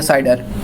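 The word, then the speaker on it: CIDR: उसके बाद आती है हमारे पास एक नया कॉन्सेप्ट जो कि हम कहते हैं साइडर, classless inter domain routing, इसको हम प्रोनाउंस करते हैं साइडर।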